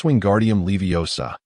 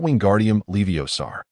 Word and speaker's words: Wingardium Leviosa: It es Wingardium Leviosa, not Wingardium Leviosar. The pronunciation requires clarity and precision.